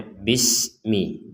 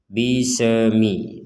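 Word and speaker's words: بسم: atau ayat Bismillahirrahmanirrahim ini di sini ada huruf Sin yang bertanda Sukun dan kita membacanya Bismi jangan sampai membaca dengan dipentalkan atau dipantulkan bisemi i Jadi tidak boleh ada pantulan bagi huruf-huruf yang memang tidak boleh dipantulkan jadi sekali lagi Bismi bismillahirrahmani di sini juga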